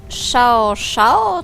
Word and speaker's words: Xiao-Xiao: jakiej imię się wymawia szao szao coś takiego Jak dobrze wiemy X w azjatyckim słowniku się inaczej wymawia niż u nas jak SH czyta się s i